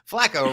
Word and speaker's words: Flacco: Flacco rhymes with snacko.